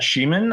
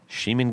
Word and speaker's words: Schiemann: Uh my name is Sheaman.